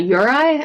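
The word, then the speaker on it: yūrei: And other people think that if you die there, you become, like, what's called a yurei, I think is pronounced, which is a cross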